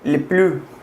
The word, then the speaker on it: le plus: On gagne le plus. Le plus. On gagne le plus. Ya les voy a decir porque aquí se pronuncia la S.